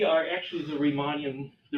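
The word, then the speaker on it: Riemann: actually the reman the remon Theta functions so we retrieve all the remon theeta functions from this point of view I'm Germany I should say pronounce the correct remon okay reman theeta functions um so we call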